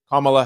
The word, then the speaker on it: Kamala: So Kamala Harris, because I hear so much different pronunciation, I get so confused. Her name is Kamala Harris.